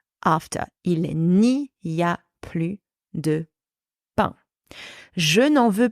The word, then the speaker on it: plus: Therefore, I pronounce plus, plus.